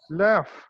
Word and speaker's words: laugh: sound it is producing gh is producing f sound laugh you're saying right so